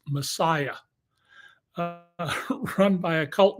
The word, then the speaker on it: MSIA: The story I left the LA Times over, was an expose of the cult in Hollywood, the MSIA, pronounced Messiah, uh, run by a